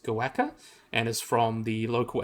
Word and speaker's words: quokka: a cutie uh the quacker oh well the quacker is pronounced goaka and is from the local Aboriginal word the